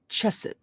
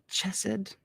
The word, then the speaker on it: Chesed: 4, Chesed. Chesed.